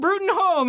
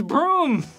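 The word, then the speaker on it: Bruttenholm: By the way, I could be wrong, but Hellboy, in this movie, pronounces his own father's last name wrong! It's not Brutenholm, it's Broom.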